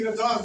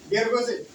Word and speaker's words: George: I pronounce as Gergoze. Gergoze. Gergoze. Yeah, because it seems like Gergoze, and I pronounce it that way. But now I don't pronounce it that way because now I came to know that it is not Gergoze, but it is George.